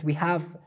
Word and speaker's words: ح: Alhamdu, alhamdu, and then we have ha, hamiduna, hamiduna. In every word of Holy Quran that we have this letter ha, we have to pronounce it ha, ha.